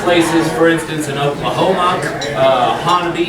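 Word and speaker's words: Honobia: There are places, for instance, in Oklahoma, Honaby is how you say that one, right, you guys back there? Honaby.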